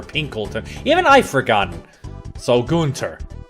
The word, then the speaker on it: Gunter: No, not Gunther. Gunter. G-U-N-T-E-R. Like it's spelled in the game right now.